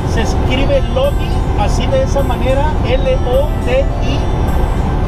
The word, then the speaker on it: Lodi: Así es que vamos allá a la ciudad de Lodi. Se escribe Lodi, así de esa manera, L-O-D-I, Lodi, California, o Lodi, California.